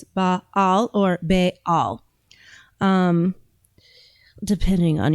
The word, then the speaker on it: Baal: __ ] Listen to Epstein's niece talk about Bale. Deeper dive into Bale, which by the way, corre correct pronunciation is baal. So there's actually a dot between the two a's in the cemetic language. So, it's baal or bal.